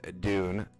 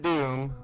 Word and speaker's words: Dune: That is Dune, not Doom. I've had people misunderstand my pronunciation of it, so I will annunciate it.